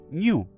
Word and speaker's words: GNU: GNU le gusta a Stallman que lo pronunciemos en español.